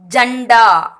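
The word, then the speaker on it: झंडा: இதுவும் பார்த்தீங்கன்னா டாவர்க தான் வந்திருக்கு இல்லைங்களா. டா, ட, டா, ட, நா. டாவர்க தான். அப்போ நா. அப்போ இதை வந்து இன்னுன்னு ப்ரொனவுன்ஸ் பண்ணணும். ஜண்டா, ஜண்டா. ஜா இன் டா, ஜண்டா.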